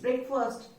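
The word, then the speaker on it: breakfast: इट्स ब्रेकफास्ट. Spelling फास्ट है, बोलते first है, ब्रेकफास्ट, ठीक है.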